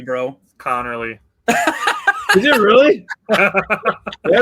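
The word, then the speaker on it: Conerly: A much easier name to say Josh Connley Jr. out of Oregon. You mispronounced it. It's Connorly, bro. Connorly.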